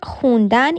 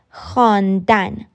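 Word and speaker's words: خوندن: to turkey with them the word hundan in farsi is the conversational pronunciation of hon dan it literally means to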